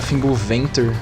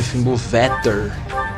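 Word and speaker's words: Fimbulvetr: Eu sempre achei que a pronúncia era Fimble Venter, mas não é Fimble Vetter.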